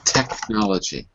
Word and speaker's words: technology: Okay, because I I wasn't hearing the C in technology.